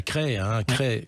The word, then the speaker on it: Crest: Ça s'écrit C-R-E-S-T, mais ça se prononce bien Cray.